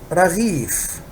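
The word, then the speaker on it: رغيف: And the last word is raghif.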